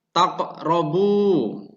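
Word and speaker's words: تَقْرَبُوا: Dan kemudian lafadz yang kedua, taqrabu, yang maknanya kalian mendekati. Cara membacanya yaitu dengan ditekan kerongkongan dengan pantulan ringan. yang secara hukum tajwid diartikan atau dimaknai sebagai qalqalah sugro.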